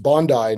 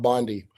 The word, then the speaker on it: Bondi: Uh it's pronounced Bondi, not Bondi. Uh, not an American, a I pronounce it Pam Bondi, but here.